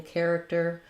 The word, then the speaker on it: character: as I know there's no pattern or rule for CH sounding like K like in character um you're gonna have